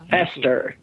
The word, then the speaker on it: Pastor: Hester.